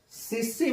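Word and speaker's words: tsetse: और सीसी मक्खी, अब ये सेट सी होता है, वैसे तो वो टी को साइलेंट कर देते हैं, तो SCT होता है ना, वो SE फिर क्या मान लिया, CC।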